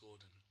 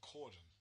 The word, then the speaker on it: Corden: I reckon we've got a lot more clowns like James Gordon. James what? James Gordon, the guy that does carpool karaoke. Corden.